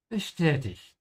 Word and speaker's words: bestätigt: Bestätigt. Übernimm die Steuerung. Bestätigt. Übernimm die Steuerung. Notice how I'm pronouncing the ST here. Whenever the S comes before a T, it's pronounced like sh.